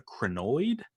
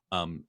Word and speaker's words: crinoid: It's I believe it's pronounced a crinoid, crinoid, and this is like in the bottom of the ocean.